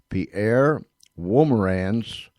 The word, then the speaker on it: Pierre Wolmarans: And that is where Pierre Wolmarans, I asked him how to say it, and he said it's close enough.